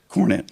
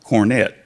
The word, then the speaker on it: Cornett: me and said, Captain, you pronounce that Cornett. It's not Cornett. That's for the rich folks.